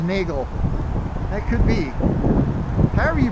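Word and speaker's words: Neagele: an entryway to uh I don't know how to pronounce that street in a Glee and the Gale something like that n-e-a-g-e-l-e okay my wife says Nagel that could be however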